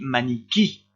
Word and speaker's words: maniquí: écrit ici parce que ce i là est prononcé plus fort. On dit maniquí et on insiste sur le dernier i.